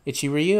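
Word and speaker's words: Ichiryu: is historical character's name ichi ryu is that how you say his name ichiri yeah itchy ryu okay good thank god like like ichigo but with ryu instead of go oh okay and to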